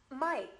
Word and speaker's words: Mike: Mike. À, các bạn chú ý phát âm đúng tên bạn này cho cô nhé.